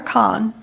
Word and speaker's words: Cohn: Is it Cohn or Kahn? I'm not sure. Senate District 16. I pronounce it like ice cream cone. Cohn, all right, thank you.